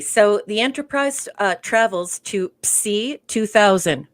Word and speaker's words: Psi: Okay, so the Enterprise travels to Psi 2000. If you're wondering about the pronunciation there, that is the correct pronunciation because that's how we say it in Greek.